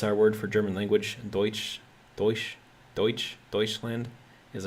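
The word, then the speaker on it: Deutsch: let's see Carl s says uh so my pronunciation is De uh sounds like deut it's our word for German language Deutch de deuts deuts Land is Our word for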